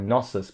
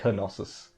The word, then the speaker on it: Knossos: They pronounce the K too. I always thought it was like Knossos, but it's like Knossos, which is a bit weird.